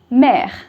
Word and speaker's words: mère: So M, E, accent grave, R, E, mère.